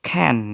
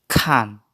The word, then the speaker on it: can't: I'm sorry I can't dibacanya bukan Ken ya tapi khan bersama Khan khan Oke